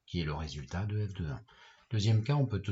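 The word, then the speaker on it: f(1): L'image de 1 par la fonction f ça va s'écrire comme ici f entre parenthèses 1 et ça se prononce f de 1.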